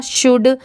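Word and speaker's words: should: अब एस एच ओ यू एल डी। यह भी आपने सुना होगा शुड। बट इसे भी तो हम शुड भी तो पढ़ सकते हैं बट क्या पढ़ते हैं? शुड।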